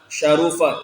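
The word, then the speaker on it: شَرُفَ: Wa innama syarufa. Ini dibacanya syarufa. Wa innama syaraful ilmu.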